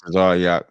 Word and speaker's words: Tazaryach: Captain Tazaryach, what is popping? Hey, what's going on, brother? We pronounce it Tazaryach, just so you know.